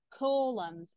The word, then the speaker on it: column: flax, flax, queen, queen, column, columns and silent letter.